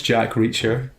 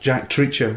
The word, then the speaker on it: Jack Reacher: haven't seen Jack Reacher my dad can't pronounce Jack Reacher for for weeks he kept saying to me I really I really want to see that Jack Treacher I'm like there's no such film as Jack Treacher what the [ __